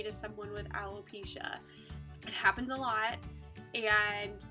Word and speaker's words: alopecia: to pronounce alopecia wrong alopecia pretty simple you just read it straight through I can't tell you how many times I've heard people say I love pescia aloe alopecia alopecia bulopikia